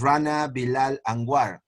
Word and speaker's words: Rana Bilal: years ago in colombia and his name is rana bilal that's the way it is pronounced yeah that's how it is yeah uh